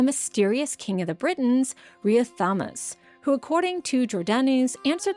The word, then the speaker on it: Riothamus: Now to be clear, the name Riothamus, which in the British language is actually pronounced something like Rigothamus, isn't a personal name.